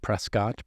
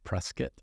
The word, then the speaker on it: Prescott: I am born in Tucson, raised in Prescott, Arizona, not Prescott, Prescott.